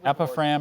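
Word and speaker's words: epiphragm: Epiphram is from Greek. Yeah. Are there any other pronunciations? I see just the one, epiphram.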